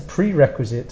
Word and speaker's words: prerequisite: First we have pre and then qui. This QUI is qui, and sit, the E is silent at the end.